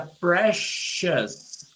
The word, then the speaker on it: precious: Quando a gente tem palavras em inglês que acabam com Os. Tá vendo aqui? Os. O som, a pronúncia disso aqui é us. Us. Então você fala delicious. Delicious. Se fosse uma coisa misteriosa, seria mysterious. Mysterious. Se fosse uma coisa preciosa, seria precious.